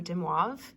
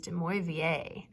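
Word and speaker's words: de Moivre: research and looked up, there's actually two different ways to pronounce this person's name. So Demoivre is one of them. That's the way I thought it was pronounced. The other way is Demoivre, which is even better.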